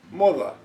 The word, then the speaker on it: moda: It sounds softer, like the TH in English, when it follows the letter R. R. Let's call this group 2. Examples with words. For this group, I choose the words moda, moda, fashion.